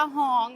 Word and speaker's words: ห้อง: ว่า ห้อง คำ ว่า ฮ้อง ค่ะ มัน อ่าน ว่า ฮ้อง